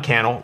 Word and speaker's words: Cannell: Let me know and follow me, Cannell, rhymes with YouTube channel, if you want more YouTube tips like this.